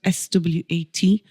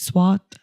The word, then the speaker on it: Swat: And this valley is called, it's spelled SWAT, so it's Swat. But if you're from Burnley, you'd say Swat.